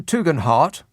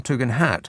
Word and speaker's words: Tugendhat: Tom Tugendhat, that's how he pronounces it. It looks to me like Tom Tugendhat, but he says heart.